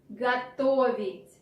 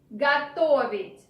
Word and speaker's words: готовить: Готовить. Готовить. Pay attention that O after ge is not stressed. This is why we pronounce it like a. Готовить.